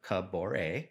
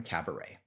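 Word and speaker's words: Kaboré: And he kept calling him, instead of Kabaore, which rhymes with that's amore, as we know from your song. As we know. He kept calling him Cabaret.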